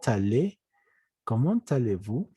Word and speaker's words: allez: Cuando hay una EZ, la Z no se pronuncia, pero la E sí. Cuando hay Z al final, cuando es EZ, la E se pronuncia. Comment allez-vous?